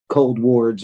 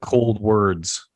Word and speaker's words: Coldwards: So and it's easy to get confused, and it even looks like Cold Wards when you look at it. But Yeah. Well, I think it was on your website. I saw a thing that said pronounced like cold words.